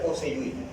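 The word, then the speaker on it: Poiseuille: Entonces, Pussey-Joule, que termina igual que Ratatouille. Se pronuncia Pussey-Joule. Entonces, la ecuación de Pussey-Joule lo que explica es los fenómenos que producen diferencia en el flujo.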